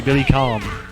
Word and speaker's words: Billy Kane: if you can get there before the night's over foreign and I will call him Billy Kane but it is actually Billy calm in all of the Japanese pronunciations and Dolores says goodbye